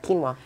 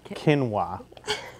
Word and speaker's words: quinoa: Quinoa. Quinoa. You got it. Sometimes I just mix up the letters, Joe. Quinoa, quinoa. Keen. Like you have a keen eyesight.